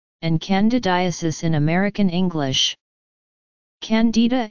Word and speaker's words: Candida: candidiasis in American English Candida is also pronounced differently in American English the stress is on the eye whereas in British English the stress is on the first syllable the genus Candida and